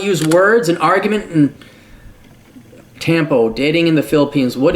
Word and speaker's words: Tampo: She's Filipino, and in her country, this silent treatment is called Tampo, like tampons.